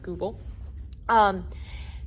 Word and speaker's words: Goupil: And so compared to previous studies, like the 2021 one by Goupil and al., I think it's pronounced Goupil, Compared to previous studies, we found that there were some discrepancies.